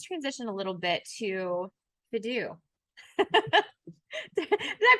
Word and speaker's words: Fidu: So let's talk a little bit, let's transition a little bit to Fidu. Did I pronounce it right?